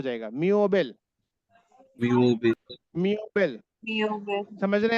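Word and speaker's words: Möbel: उमलाउट के साथ जब ये रहता है तो ईओ की तरह बिहेव करता है, म्योबेल, म्योबेल। देखिए जब ओ उमलाउट के साथ आएगा तो ईओ की तरह हो जाएगा, म्योबेल, म्योबेल।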